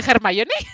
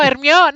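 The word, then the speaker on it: Hermione: que no estuviera germoni me germoni se dice germoni sí se pronuncia sí no hermión no el hecho de que no estuviera Para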